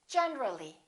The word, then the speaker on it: generally: When we add the ly, we say generally. Generally, not generally.